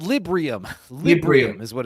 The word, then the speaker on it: Librium: type drug, or B, it is something called Liberium, I think.